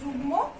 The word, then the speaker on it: যুগ্ম: হলো তন্ময় উচ্চারণ, এবং এখানে দেখো যুগ্ম দেয়া আছে গয়ের সঙ্গে ম, এখানে কিন্তু আমরা গয়ের সঙ্গে ময়ের উচ্চারণ করছি।